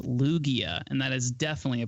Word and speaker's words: Lugia: It's pronounced Lugia, and that is definitely a Pokemon.